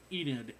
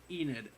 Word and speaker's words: Enid: about this Carl and Enid I think is how to say it's yeah not it's not Eden's Enid Enid e n I honestly